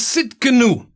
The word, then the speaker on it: Tsidkenu: it's a little bit the spelling is a bit weird it's a bit different we are not used to it but it's a silent t at the beginning but if you go